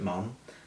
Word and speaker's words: Maugham: Um, uh, I'm not going to spell it out for you cuz I'm going to butcher it, but it is pronounced mom. So, like, uh, mom or dad.